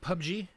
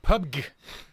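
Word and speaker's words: PUBG: everywhere and I'll get to that no it's pronounced pub G player unknowns battlegrounds are pub genes okay cuz every time I'd see it's like pub gear like that's not a fun active and why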